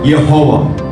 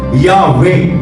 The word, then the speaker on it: Yahweh: اور جب ایدونائی کے اعراب اس لفظ پر لکھے گئے تو اس لفظ کا تلفظ بنا یہوہ، جو کہ عبرانی زبان سے بالکل مختلف ہے. اگر آپ عبرانی زبان میں اس لفظ کو پڑھے تو اس کا تلفظ بنتا ہے یاوے.